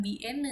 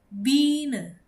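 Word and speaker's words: Biene: Jadi ini bukan bien ya seperti orang Sunda tapi bine bine gine gu ya teman-teman artinya adalah lebah bina.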